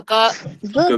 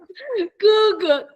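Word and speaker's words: 哥哥: 哥哥，哥哥，哥哥 is older brother. 大哥 is the eldest older brother. 哥哥 Okay, first tone.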